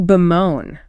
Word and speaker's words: bemoan: Then, to bemoan. B-M-O-H-N. Stress on the second syllable. B-M-O-H-N.